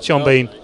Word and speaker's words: Sean Bean: Rhymes with mean. Keen? No. Sean Bean.